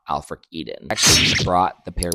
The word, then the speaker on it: AELFRICEDEN: And when I started partnering with the company Alfric Eden, that's spelled AELFRICEDEN, Alfric Eden, the game changed for me.